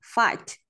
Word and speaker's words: fight: Rồi, chúng ta có daughters, fight and sightseeing. Âm G, cái chữ GS ở đây đều là âm câm ạ. Nghĩa là không phát âm.